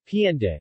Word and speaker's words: Pandi: Known before as Santa Maria de Pondi, Tagalog pronunciation, Pienda, it is named under the patronage of the Immaculate Conception, also known as La Purísima Concepción.